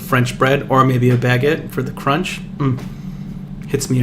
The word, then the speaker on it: baguette: bread, or maybe a baguette for the crunch. Hits me every time. On a what? Like a baguette. A what? A baguette. You need to pronounce that B a little bit better, buddy. Baguette.